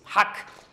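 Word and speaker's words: hawk: Don't pronounce the W please. Hack.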